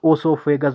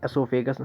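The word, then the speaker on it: esophagus: कुछ लोग इसे ओसोफेगस भी पढ़ते हैं, लेकिन एसोफेगस बेस्ट है प्रोनाउंसिएशन के हिसाब से, क्योंकि प्रोनाउंसिएशन भी बहुत ज़्यादा इंपॉर्टेंट है।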